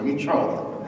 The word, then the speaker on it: Richard: Il faut bien prononcer le nom, c'est Richard.